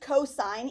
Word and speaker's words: cos: but don't call it cost because I have no idea what you're talking about it is still pronounced cosine even though it's abbreviated cos and this one looks